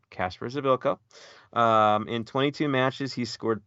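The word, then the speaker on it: Kacper Przybyłko: concerned is Casper's ability' that's how it's said Casper's edokko in 22 matches he scored 13 goals six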